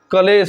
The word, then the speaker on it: क्लेश: य गलत हो जाएगा कलेश नहीं क्लेश होता है अब उच्चारण सही कीजिए तो क्लेश हो जाएगा क्लेश तो इसको लिख लीजिए